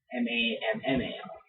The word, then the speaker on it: Mamall: you know you know m-a-m-a-l-l but pronounced as m-a-m-m-a-l so it's mammal you really like that